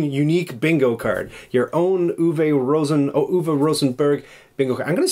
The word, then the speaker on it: Uwe Rosenberg: Berg, and then the German, like, K for G. Uwe Rosenberg.